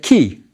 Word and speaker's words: ky: The basket is the K, and the double reed leaf, the Y. We put the short E to get key. That's how it's pronounced.